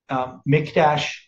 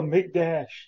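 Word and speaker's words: מקדש: Mikdash. Sometimes it has a dot in the Kof, which means you have Mikdash. Sometimes pronounced that way.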